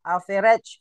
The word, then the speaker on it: average: Average average bacanya bukan alage ya. Tulisannya overage average.